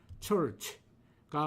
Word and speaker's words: church: 올바른 발음은 철 다음에 치 발음은 모음 없이 치만 발음, 자음만 발음해야 합니다. 그래서 church가 맞는 발음입니다. 틀린 발음은 치었 다음에 이 또는 위 모음을 넣어서 처치 아니면 처취라고 발음하는 것들이겠죠.